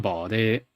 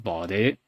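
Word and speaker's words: 保持: That when you have a 2x chain, that second syllable does actually have a slight rise to it. So it's not 保持, it's 保持.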